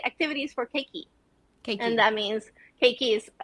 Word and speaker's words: keiki: they say activities for keiki and that means cake is uh kids kids okay so you pronounce everything uh you pronounce every letter so k e i k i okay okay okay okay